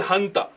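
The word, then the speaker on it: junta: Their military is called Hanta. Now you write as J U N T but the pronunciation is H.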